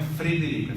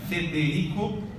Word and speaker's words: Federico: audo no i Martim Federico não é Frederico fe fe Federico e chavaria assim que